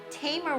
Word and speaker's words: Tamer: Tamer rhymes with Hamer.